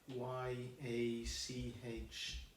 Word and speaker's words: yacht: Y-A-C-H-T, yacht. The fourth one, you're going to pronounce the T, stretch.